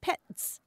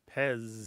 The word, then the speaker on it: PEZ: last letter Z and in German that's pronounced pets mhm but in English we pronounce it Pez Pez I see it